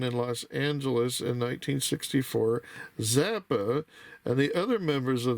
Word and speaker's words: Zappa: Frank Zappa, pronounced Zappa, the right here, if you could see it.